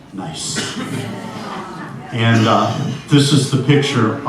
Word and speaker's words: Gneiss: And it's spelled Gneiss, but the pronunciation is nice.